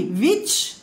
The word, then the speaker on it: which: The sky which ఏంటండి, WHICH, W must be pronounced like V here.